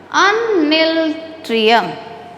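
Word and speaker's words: Unniltrium: How will you pronounce this one? Uniltrium.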